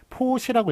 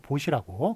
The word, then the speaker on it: 보시: 포시라고 읽지 않고 보시라고 그렇게 읽어야 맞는 것입니다.